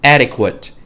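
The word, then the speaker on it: etiquette: 네, 이거 영어 아니고 불어에서 시작된 걸로 제가 알고 있고, adequate 이 정도로 발음하시면 될 것 같아요. 에티켓 하셔도 되고, adequate 정도 하셔도 될 것 같고요.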